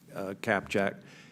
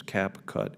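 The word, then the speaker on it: CapCut: we should ban a tick tock and and cap Jack in I should pronounce it right I guess cap cut in the United States it's clear to me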